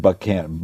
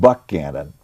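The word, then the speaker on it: Buchanan: there at the right time follows pierce and buckham it's pronounced buck cannon who are really really bad they don't know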